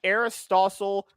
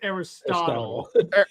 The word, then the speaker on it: Aristotle: See how stupid that sounds when you really they think James Gun is like some Aristole genius that's just pondering. He's just on a chest. First off, it's pronounced Aristotle.